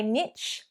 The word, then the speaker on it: niche: Number 11, and this is one that when I've heard said differently to how I pronounce it, I actually thought they were saying it wrong, but I've looked into this and technically to say niche is correct.